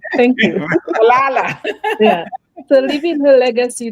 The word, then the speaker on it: Malala: I know the name, but I can't pronounce it. It's okay. Mallaya. Mallaya. Right. I got it right. Thank you. Malala.